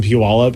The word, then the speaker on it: Puyallup: family that lives in Puyallup and they were like it rhymes with gallop and I was like